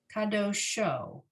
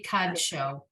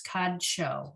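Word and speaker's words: קדשו: Line 6, kodesh, kiddush, kadosh, kadosho. No, I think that's wrong. It should be kadsho. That shin is not a vowel for the dalet. It's kadsho. I'm certain of that.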